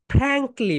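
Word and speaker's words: frankly: ওকে, next one যেটা সবাই দেখো, ফ্র্যাঙ্কলি বলো। ফ্র্যাঙ্ক মনে আছে, এফ যখন প্রোনাউন্সিয়েশন করবে উপরের দাঁত নিচের ঠোঁটের সঙ্গে টাচ করবে, বলো ফ্র্যাঙ্কলি।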